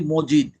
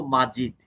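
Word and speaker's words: مجيد: Family এবং মাজিদ family, আমরা বলি কি মিম জবর মা, হ্যাঁ, কিন্তু আমরা উচ্চারণ করি কি মজিদ। আসলে এটা হওয়ার কথা ছিল মাজিদ। জাদা মানে জাদার অর্থ বর্ধিত করা, মাজিদ। তো মাজিদ আল্লাহ একটা নাম, তো মাজিদ এটা মজিদ না, তা আমরা তো বলি মজিদ, আসলে মাজিদ।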